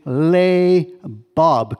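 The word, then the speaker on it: לבב: And the way we pronounce this word is right there. It's labob. Can everybody say labob? Okay, that's loud enough. It means heart.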